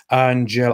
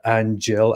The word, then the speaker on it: Aanghel: eric can upgrade it it's pronounced like an angle ang and angel angelic readings from los angeles uh i guess i'll